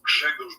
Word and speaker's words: Grzegorz: Now, I should point out, I'm using the Western pronunciation of your first name. So to my Polish viewers, I apologize, but I tried for like 10 minutes. For your Polish viewers, my name is Grzegorz Braun.